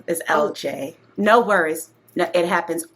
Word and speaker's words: Elle Jae: And this happens all the time, but uh the correct pronunciation is L is LJ.